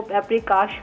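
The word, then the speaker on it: paprikás: Chicken पेपरिकाश कहाँ की recipe है? जी, हंगरी की डिश है, हंगेरियन डिश है। तो इसीलिए उसको जो प्रोनाउंस किया जाता है वो पेपरिकाश कहा जाता है।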